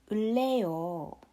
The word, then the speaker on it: 을래요: So you pronounce it as 을래요, getting the tone down at the end.